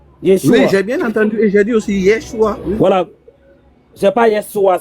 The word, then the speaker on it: Yeshua: Il a très bien prononcé comme moi. Monsieur Kao. C'est Yeshua.